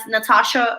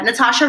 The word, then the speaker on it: Nathasha: So, you can search me as Nathasha. My name is spelled with an H after the T, so it's a silent H. So, Nathasha, and I recommend my